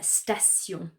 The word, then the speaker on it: station: The most common one I can think of is station, station. So we need to be